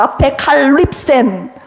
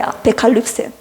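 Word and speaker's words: ἀπεκάλυψεν: 앞에 칼립센 발음이 좀 어렵습니다. 아페칼립센. 네, 아페칼립센.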